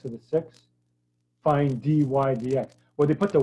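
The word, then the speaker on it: dy/dx: y d x okay this is how you say it d y d x even though it looks like d y over d x we normally just say d y d x right so this is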